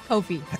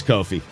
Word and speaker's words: Kofi: Coffee Cockburn. Kofi. Hate when that happens. Oh, it is Kofi.